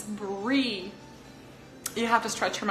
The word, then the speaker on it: Brie: it's pretty straightforward the word pari you just pronounce them the way you see it it's Bree you have to stretch him out for the N mu C e brie brie cheese and it's not for nothing that Americans